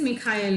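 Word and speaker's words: Mikhael: it Mikhail but it's Michael with Niven Paulie and it's the same kind of very his films are definitely not my cup of tea no um Catherine it is Mikhail in Malayalam oh is it Mike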